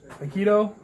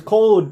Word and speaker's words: Kode: With us today, we have Aikido, or Haikode. How do you say it? Mother is code, cuz. Okay, Code. K-O-D-E. There you go, Code.